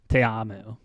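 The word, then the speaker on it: Ta'amu: a specific Islander name you got to pronounce all the vowels and there's two A's so te amo yeah ta apostrophe AMU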